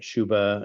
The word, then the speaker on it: Ciubba: And right now there's one track that's already released, which is the Let the Sunshine In, performed by Sabina Shuba, and her last name is spelled Ciubba.